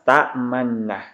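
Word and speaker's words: تأمنا: Jadi cara membaca ismam itu mengidghamkan nun yang pertama tadi, nuna, itu ke nun yang kedua. Jadi pada harakat fathah, pada na ini dibaca dhammah, tapi dhammahnya terbuang dan hanya dibaca dengan isyarat bibir mencucu atau bibir dimonyongkan.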